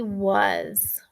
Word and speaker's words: was: s all right and was is tricky because the a says uh and the s makes the z sound which is pretty common with s but it's this uh and z so you have to remember it's a s and not u z all right let's skywrite